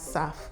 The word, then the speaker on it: SAF: As airlines face pressure to reduce their carbon footprint, many firms are looking to sustainable aviation fuel, abbreviated as SAF and pronounced as SAF, as a way to cut CO2 emissions without replacing existing jet engines.